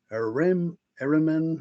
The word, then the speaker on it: Ahriman: Rudolf Steiner, UFOs and Ahriman, or however you pronounce that.